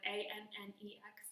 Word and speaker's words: annex: Now, I realized I'm going back and forth on how to say this word, A-N-N-E-X. But when we're using it in math like this, we should say annex.